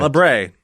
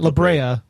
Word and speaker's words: La Brea: stuff right just stop not labrae that labrea oh you okay it's